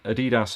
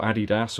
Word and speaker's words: Adidas: And at last, Adidas have actually, or Adidas, or however you want to. People always keep asking me, why do I pronounce it like that? I think I kind of like the way that Brad Hall pronounces it, Adidas. You know, I like that. It just sounds a little different.